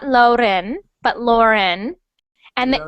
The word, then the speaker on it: Lauren: good um so breno when you say Lauren I want it to sound like an O Lauren Lauren Lauren good good so br